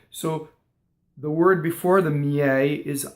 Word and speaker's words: miei: So if you look at the word miei, both of those I's are semivowels, right? One is there to make the Y sound into the E. There's a glide, right? And the next one is just a grace note semivowel. right? And the accent of the word is the eh. So if I did it in slow motion, it's miɛi. And you see the e, both e's are different in that word, right?